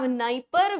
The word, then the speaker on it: Dnieper: Another important river, Dnieper, Dniester. D है नाम में but D is silent. So we have Dnieper, we have Dniester.